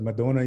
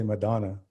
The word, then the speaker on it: Madonna: is a graduate of Madonna University in Michigan and I should say "Madonna" we say "Madonna" Ojibwe pronunciation and holds a Bachelor of Arts and Master of Arts in US history.